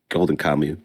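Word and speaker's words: Golden Kamuy: Luffy from One Piece facing off against Tokashiro Suyami, whatever, from Golden Kami, it's pronounced. D, you said? it's Golden Kamu.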